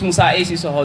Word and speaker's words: Mais: I I guess um Omar Su mispronounced my name. So let me correct him right. Um my name is Mais known as the logical intellect poet inspired by wisdom.